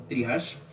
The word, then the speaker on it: triage: Entonces, el triash se escribe así como está acá, trije. Eh, lo podemos leer como triash.